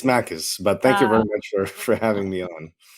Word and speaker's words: Makis: It's Makis, but thank you very much for having me on.